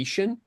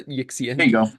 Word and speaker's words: Yixian: Um, I will also say it's the Yishian as it's pronounced, not the Yixxian.